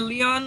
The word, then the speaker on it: Lyon: I I thought for some reason that Sorry, it's pronounced Leon or Lyon? I'm just going to go with Leon. it's Leon. Bro, he's been saying Leon all day. It's Leon, yeah.